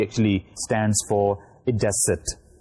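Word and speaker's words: id est: So we use that is I dot E, and I dot E actually stands for idecit. I for id and E for est, we pronounce it as idecit.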